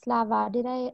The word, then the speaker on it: Slava: it's crazy out here sorry guys yes Slava Slava am i pronouncing your name correctly yes you said you